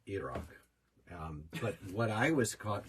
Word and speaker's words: Iraq: Some stuff happened in Pakistan and Iraq, which is properly pronounced Iraq.